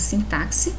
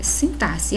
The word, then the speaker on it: sintaxe: palavra que nos pronunciamos sintaxe tá mas a pronúncia correta é sentar-se tórax e exorcizar então nós percebemos aqui que a palavra sintaxe traz sim o x traz som de s a então é exatamente